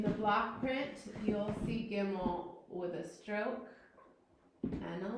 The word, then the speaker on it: Gimel: makes a g sound. G. Okay, Gimel.